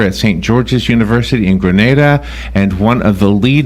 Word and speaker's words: Grenada: And am I saying it right, Grenada? That's right. It's Grenada. It's not Grenada. It's Grenada.